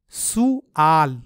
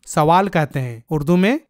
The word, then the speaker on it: سؤال: جبکہ اردو میں ہم سوال کہتے ہیں، لیکن عربی میں اس کا صحیح تلفظ ہے سؤال.